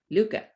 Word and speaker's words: Lucca: in all of lucca luca rhymes with hookah no one can tell